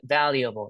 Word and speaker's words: valuable: So the the syllable that is stressed is the first one, right?